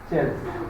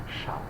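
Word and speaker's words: Chasles: So this is not Chelsea, it is Schall.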